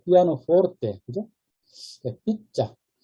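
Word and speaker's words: pizza: 삐자. 다만 이제 B 발음이 이제 된 소리로 발음이 나죠. P자가 아니라 B자 이렇게 발음이 나죠.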